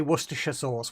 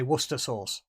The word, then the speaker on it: Worcestershire sauce: we we don't say Worcestershire sauce we just say Worcester sauce no not not shy not no not shya it's it's pronounced sure in that word that's brown sauce that's